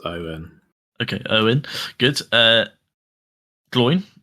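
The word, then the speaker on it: Óin: still fun fun fact did you know it's pronounced Owen o it's Owen okay Owen good uh GL um again it's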